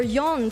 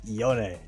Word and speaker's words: Yone: have a different neighborhood in English it just makes sense as yon so yeah well it is it's up to the the one reading the name and I think that's how they they pronounce it here we say the Yoni and it does sound